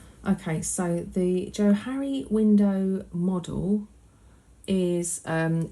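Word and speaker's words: Johari: in and have a quick let's type in Joe hurry should come up if you're interested it's spelled j-o-h-a-r-i um so let's have a quickly and see what this says okay so the Joe Harry window model is um it's a grid and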